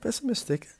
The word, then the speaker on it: pessimistic: The word pessimistic has 4 different syllables, and the stress is on the third one because we have IC, and IC changes the stress to the syllable before the last.